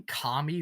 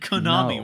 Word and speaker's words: Konami: Did you just say Kami? Why? I said Konami. What the You missed a whole syllable.